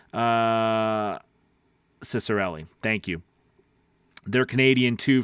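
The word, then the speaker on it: Ciccarelli: says yup david the ceo of voices is pronounced uh cicerelli thank you they're canadian too from london ontario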